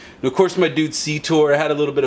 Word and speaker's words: Cetor: This is a good strong 2 syllable name. I always have a tough time with the T in the middle, but I think I handled it fine.